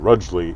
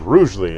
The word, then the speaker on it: Rugeley: towards Rugeley, I think, which is commonly called Rudgley in the in the court trial thing. Everybody, have we been saying it wrong? No, it was interesting because all the people there were like Rudgley, Rudgley, Rudgley, and then as they got up and they said Rugeley as they were talking about it in the modern sense.